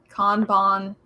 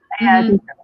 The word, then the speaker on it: kanban: Kanban. Kanban. Kanban. Yeah. It's All Japanese, so it sounds exactly like it's spelled like exactly how it sounds.